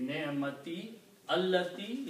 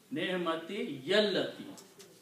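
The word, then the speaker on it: نعمة التي: And again, when you combine, you don't read ni'mati allati, instead you pronounce ni'mati yallati.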